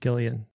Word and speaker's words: Gillian: name jillian anderson but jillian welch is actually pronounced gillian with a hard i think she